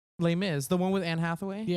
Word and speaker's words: Les Mis: Les mises Les mises oh lame Miz is that how you say it lay Miz the one with Anne